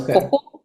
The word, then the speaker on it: koko: And when we talk with a more comfortable kind of slangy way, then we pronounce our T's with a K, so it becomes koko.